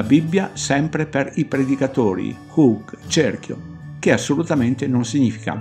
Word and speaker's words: chug: Non vado a ripetermi perché ho già fatto le precise ricerche del termine chug, si pronuncia hug, che ogni volta per